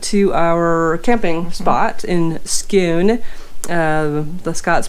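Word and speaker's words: Scone: back we went to our camping spot in Scoon the Scots pronounced it's just like cows a coup and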